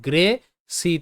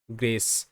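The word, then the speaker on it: grace: সো জি আর গয় র গ্র, এ এর সাউন্ড হবে এ গ্রে, সি তে স সাউন্ড গ্রেস, গ্রেস। এখানে কিন্তু প্রতিটি শব্দে সি এর পরে ই রয়েছে, তাই সি স হিসেবে উচ্চারিত, আর শব্দের শেষে ই সাইলেন্ট।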